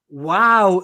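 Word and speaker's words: waw: One of those being to assign the wow letter, not the vav letter, the wow letter, to assign it a v sound. Why? Because when you write the W in German, it makes the v sound.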